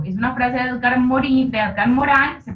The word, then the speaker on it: Morin: Es una frase de Edgar Morán, se pronuncia Morin, se escribe Morin, pero se pronuncia Morán, Edgar Morán.